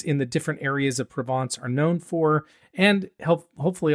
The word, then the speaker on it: Provence: So in Côte de Provence, the wines tend to, that's how you say it, Provence.